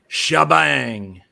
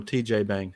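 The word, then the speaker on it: T'Jbang: But for me, my favorite of the bunch is Shabang, or TJ Bang, depending on how you want to pronounce it. The commercial calls it Shabang or Chabang.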